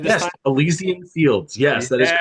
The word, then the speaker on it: Elysian Fields: Did I pronounce it right this Yes, time? Elysian Fields.